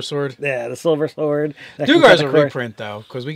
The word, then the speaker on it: Duergar: But they pronounce it Duergar. I'm always going to say Duergar. That's just how it is in my brain.